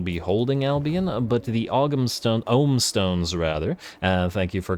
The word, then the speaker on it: Ogham: I'm not 100% sure as to whether we'll be holding Albion, but the Ogham Stones rather, thank you for correcting me on that pronunciation.